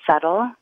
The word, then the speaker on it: subtle: really funny word to have a silent letter because you could say that the B is very subtle in a way but